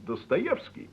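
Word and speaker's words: Достоевский: Yes, the vowel ye is pronounced ye when it is stressed, as in Dostoevsky.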